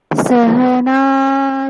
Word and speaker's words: সহনৌ: সাহা নৌ, এই নৌ এটাকে আপনাকে দীর্ঘ উচ্চারণ শোনাতে হবে। শুধু আপনি নিজে কিন্তু আমরা বুঝতে পারলাম না, এমনটা হবে না। আপনি উচ্চারণ করবেন এবং আমরা সেটা বুঝতেও পারবো, হ্যাঁ এখানে দীর্ঘ হলো। এইভাবে উচ্চারণ করতে হবে।